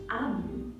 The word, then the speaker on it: Amu: Note to the reader, Amu, pronounced Amu is the IO term for queen.